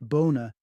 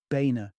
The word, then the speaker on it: Boehner: the baina name bearing its German Roots originally pronounced boner underwent an Americanized transformation that glossed over the complexities in favor of baina such a surname might seem inconsequential except when